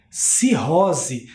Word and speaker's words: cirrose: E o S com o som de Z, cirrose.